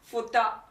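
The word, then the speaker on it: 二: now the kunyami that is the native japanese pronunciation is futa followed by something something futa the onomi is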